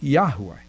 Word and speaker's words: Yahweh: shy about saying it uh and they say Yahweh which like I said is the correct pronunciation now why am I telling you all